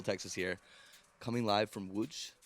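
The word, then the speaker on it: Łódź: impressive is that well i thought it was pronounced lods and everyone was like no that's not how you pronounce it you started off with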